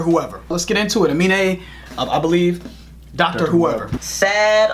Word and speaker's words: Aminé: So, I really want to say anime. And I'm pretty sure that we're not the only people that want to say anime. Aminé, perhaps. Aminé? We could be pronouncing his name wrong. We don't do all that research. We just go right into the video. So we could be wrong. But we think his name's pronounced Aminé.